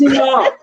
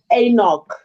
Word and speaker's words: anCnoc: No, it's anCnoc. No, but it says you pronounce it anCnoc, not anCnoc. It's anCnoc. Yeah, it's anCnoc.